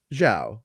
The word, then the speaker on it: Zhao: i'm like what and it's like ciao but it's all but if you are american it is zhao and i'm like okay